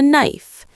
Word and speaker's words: knife: This is a knife. K N I F E. The K is silent.